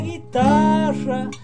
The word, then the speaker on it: guitarra: Tu amor es una estrella con cuerdas de guitarra. Guitarra, acuérdate que hay que pronunciar la R. Guitarra, si decís guitarra, guitarra no garpa.